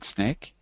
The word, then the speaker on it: snake: h the last one the E is silent exactly when we have